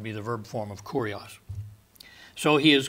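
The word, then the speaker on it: κύριος: lord and this is the word kurios not curious but kurios and um it is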